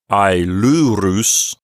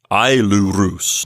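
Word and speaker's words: αἰλούρους: So it sounds like ailurus, not ailurus, not that. So the sentence as a whole would say, ho georgos uk eche ailurus.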